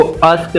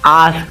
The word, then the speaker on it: ask: आस्क, ASK, इसको अस्क नहीं बोलेंगे, इसको आस्क बोलेंगे।